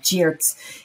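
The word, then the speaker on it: Giertz: pronounce their last name it's like cheers it's g-i-e-r-t-z and every day you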